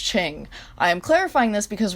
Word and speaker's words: Qing: overthrew his father the qing dynasty in 1911 before everyone gets mad at me that is how you pronounce it this word right here on screen is pronounced ching i am clarifying this